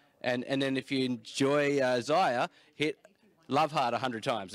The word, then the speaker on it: Isaiah: Isaiah.